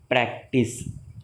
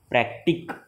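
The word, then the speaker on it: practice: एक के बाद आया है, इसलिए उसका प्रोनाउंसिएशन क नहीं करेंगे, स करेंगे. प्रैक्टिस. देखो आई के बाद आया है ना, प्रैक्टिक, नहीं बोलेंगे हम, प्रैक्टिस।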